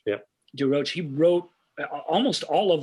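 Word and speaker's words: De Roche: Everett DeRoche, yeah. DeRoche.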